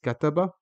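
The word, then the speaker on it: كَتَبَ: where my cursor is, the kaf in kataba has a fatha, so it makes ka, and then we move to the next letter, which is ta, which has a fatha, so it's ka ta.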